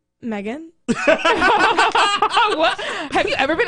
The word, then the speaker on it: Meaghan: Technically, if you're saying it with an Irish accent, which is what they named me after, is the Irish way of saying it, it's Megan.